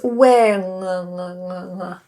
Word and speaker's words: wing: try with different words when like when w i n versus Wing wing. W I N G.